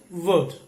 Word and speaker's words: would: should and word so letter l is silent here good should and would but in the last